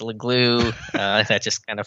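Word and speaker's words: Leglue: left guard he's like my name's john uh it's a legloo uh that's just kind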